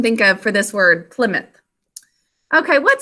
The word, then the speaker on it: Plymouth: And the second syllable, what sounds do you hear? Ow, ow. The ow sound comes from ow, o, oo, since it's not at the end of a word.